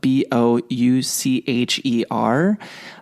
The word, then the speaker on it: Boucher: Boucher, and his last name is spelled with Boucher. The ER is kind of silent there.